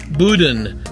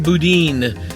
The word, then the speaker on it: boudin: some and I found out that it's actually pronounced Boudin not Boudin the really nice cashier seemed to really get